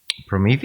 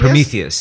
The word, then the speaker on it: Prometheus: So we identify more with um uh uh I keep saying it wrong. Parometheus. Prometheus.